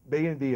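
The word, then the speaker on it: BayEnv: If you go to France, people refer to this as Bayonf, and you have no idea what they're talking about. But so BAY&V apparently is the right way to pronounce it.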